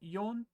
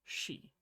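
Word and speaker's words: 四: less it's like this four can be pronounced either yon or she and that's because she is also the word for death in Japanese that's actually the same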